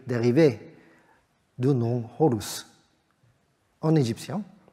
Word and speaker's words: Horus: d dérié de nom Horus en égyptien Horus se prononce hor au h en nom